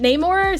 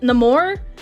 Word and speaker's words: Namor: Some characters pronounce it Neymar. Some characters pronounce it Namore.